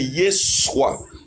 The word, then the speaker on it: Yeshua: Parce que le vrai nom n'est pas Jésus mais c'est Yeshua. Ou que on prononce en anglais Yeshua. Son nom est Yeshua. Ça s'écrit Y E S U A.